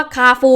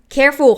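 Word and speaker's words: Carrefour: คะ ปู จริง ๆ คำ ว่า คาร์ ฟูร์ นะ คะ มัน อ่าน ว่า เคโฟน เอ้อ เคฟู ของ ฝรั่ง ถ้า เขียน อย่าง นี้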